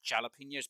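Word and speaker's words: jalapeños: but for me it's jalapenos because the J is not silent and I have an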